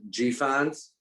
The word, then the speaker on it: GFANZ: It's GFANZ. GFANZ, yes. Yeah, I like your pronunciation, Aryeh.